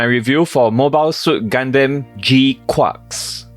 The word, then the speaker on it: GQuuuuuuX: for Mobile Suit gandam G quarks and yes that is how the title of this movie is pronounced and if you think